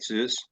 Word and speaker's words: Zeus: researcher his name is Zeus hopefully I pronounced your name right Zeus yeah welcome to the show and welcome to